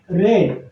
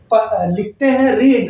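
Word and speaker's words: read: तो समाचार पढ़े जाएंगे, न्यूज़ विल बी रेड। अब हम लिखते हैं रीड, लेकिन पढ़ते हैं रेड, इसलिए कि रीड तीनों फॉर्म में रीड ही होता है, लेकिन उच्चारण रीड, रेड ऐसा होता है।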